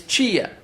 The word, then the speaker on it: tia: In Portuguese, tia. That's the way they pronounce in palo. It's chia in minus.